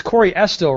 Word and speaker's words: Corey Estill: And it's Corey Estill, right? That's the right way to pronounce Correct.